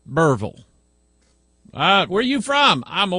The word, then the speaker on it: Berryville: just outside of Berryville, this is how they say it down here, Berryville.